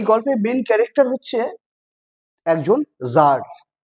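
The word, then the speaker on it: tsar: এই গল্পের main character হচ্ছে একজন জার। উচ্চারণটা হবে জার বা জার। চন্দ্রবিন্দুর মত উচ্চারণ করতে পারো।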